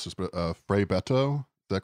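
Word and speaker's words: Frei Betto: Yeah, you have an anecdote about, I'm going to mispronounce this, but Frei Beto, is that correct? Yeah, Frei Beto was a Brazilian liberation theologian.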